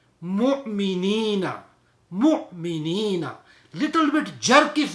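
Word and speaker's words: مؤمنين: Mu'minina.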